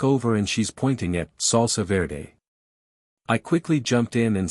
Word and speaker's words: salsa verde: After he left, I told her it's salsa verde, not ferret sauce.